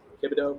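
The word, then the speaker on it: Kibodeaux: Paul how do you say his last K kibido yes that's spelled k i b o d e a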